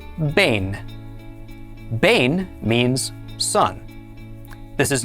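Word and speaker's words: בֵּן: This word is spelled beit, nun, with a tzera under the beit. The beit has a dagesh, so it is pronounced ba. Tzera is a, and nun is na. Altogether, this is pronounced bain.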